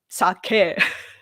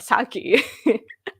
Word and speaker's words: sake: uh that our sakei sake the pronunciation is sake but Saki or alcohol uh that